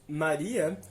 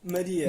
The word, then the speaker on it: Maria: Ou seja, se no português brasileiro dizemos Maria, no português europeu dizemos Maria. Exatamente, Maria, não é Maria. Pois é. com A fechado, já que ele não está na sílaba tônica.